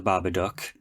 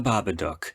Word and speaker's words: Babadook: I hated how the girl in the beginning couldn't pronounce the Babadook. It's the Babadook, not the Babadook.